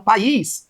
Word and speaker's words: país: Então, país é uma palavra de sílaba, isso aqui é um hiato, então vai ficar país.